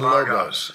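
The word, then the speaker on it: λόγος: I was saying logos or logos. It's logos.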